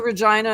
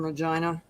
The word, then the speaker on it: Regina: i could get to regina in four hours but there's nothing in regina it's the town they say rhymes with fun yeah i was gonna